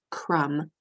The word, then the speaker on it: crumb: first word for instance this is crumb as if we have breadcrumbs sitting on the table the B is silent and when